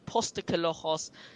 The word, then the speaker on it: Postecoglou: that you really do think Ange or Ainge, Postecoglou, the most difficult. This is the worst name, honestly. If you told me Here, I'll teach you. to pronounce his name, Pause. Post Postacoglu.